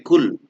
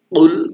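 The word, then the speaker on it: قل: Qaf ini harus dibaca tebal ya. Jangan sampai kul dan qul beda.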